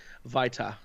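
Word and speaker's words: Vito: It's actually pronounced Vita.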